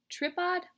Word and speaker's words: tripod: T-R-I-P. Odd. Tripod? No, that doesn't sound right. Let's give it a long I sound.